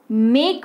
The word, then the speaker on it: make: मेक के अगर उच्चारण हम लोग लें तो मेक का उच्चारण होता है मेक, स्पेलिंग होती है MAKE। इसको हिंदी में तोड़ते हैं, चलिए, म अ ए क, तब जाकर के ये बना मेक। क्या बना, म अ ए क, मेक बना।